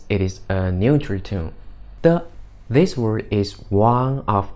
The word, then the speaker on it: 的: As you can see, there is a new word 的 d e (no tone mark, means it’s a neutral tone) no tone mark, it means it is a neutral tone de This word is one